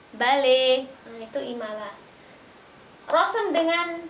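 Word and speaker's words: بَلَى: Mata, mate, asa, ase, bala, bale.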